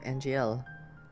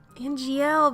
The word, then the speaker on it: Angiel: You used to dream about getting out of the palace to see Angel. Angiel, that's how you pronounce it.